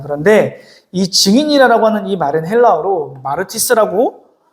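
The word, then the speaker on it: μάρτυς: 그런데이 증인이라고 하는이 말은 헬라어로 마르티스라고 발음하는데이 말의 의미는 두 가지 의미를 갖고 있어요.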